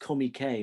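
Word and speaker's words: Comique: for fatty arbuckle's own company spelt comic or pronounced comey k apparently by everybody who works there and in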